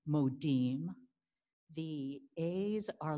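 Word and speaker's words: מודים: see the modim so the i is pronounced e modim the a's are like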